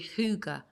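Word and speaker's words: hygge: approach I found it through Huga Huga uh which you would phonetically spell h y g g e which is the Danish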